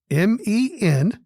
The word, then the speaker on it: mensural: mensural, 3 syllables.